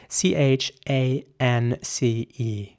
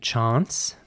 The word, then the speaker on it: chance: next word is spelled c-h-a-n-c-e how would you pronounce this word in British English it would be chance and in American English